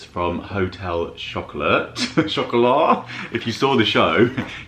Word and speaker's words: Chocolat: And we have here some chocolates from Hotel Chocolat. Chocolat. If you saw the show, you'll hear that I pronounced it Chocolat and Steph pronounced it Hotel Chocolate.